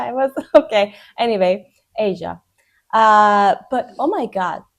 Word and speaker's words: Aja: It says Asia in this one, but I checked the pronunciation. I was okay. Anyway, Asia.